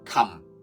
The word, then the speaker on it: 琴: 家記住啦，琴同今天嘅今係有啲相似嘅，黃黃金就係個琴字啦。